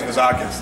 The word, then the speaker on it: Vizakis: And then the last name is Vizakis. Now that one, I guess, just think of something that rhymes with Vizakis and you got it, okay?